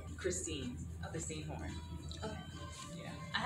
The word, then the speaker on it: Christine: So do you want me to introduce you as, is it Christine or Kristen? Christine.